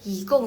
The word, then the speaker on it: 一共: Jadi bacanya yigong.